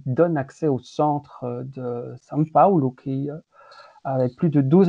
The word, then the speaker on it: São Paulo: il paraît qu'il faut dire São Paulo.